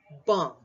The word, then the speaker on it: bomb: choose next three words comb silent B tum silently bomb silent B okay so it's comb